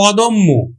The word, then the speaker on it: অদম্য: পায় জ ফলা পায় তাহলে কিন্তু ও এর মত উচ্চারিত হবে যেমন দেখ অদম্য অদম্য তাহলে উচ্চারণ কিন্তু